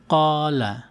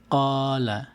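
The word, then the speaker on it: قال: যেরকম এখানে দেখবেন এটি কলা, এখানে কফ ফাতহা তারপরে আলিফ আছে। এই আলিফকে কিভাবে উচ্চারণ করব? কলা, কলা।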